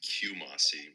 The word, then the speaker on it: Qumosi: and welcome to chew Morse or cumosi it's pronounced Kumasi we're gonna review Kumasi so thank you o37